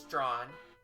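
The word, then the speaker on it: Strachan: The joke cares that there is a there is a street in Toronto that's like I believe it's it is an actual name in like somewhere in the in uh Great Britain. But it's like uh s t r a c h an I think it's an it's either a or en but it's basically it's pronounced just straw.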